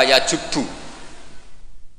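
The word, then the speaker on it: يجب: Itu bacanya bukan yajibu tapi apa? Yajubbu a yaqt lah.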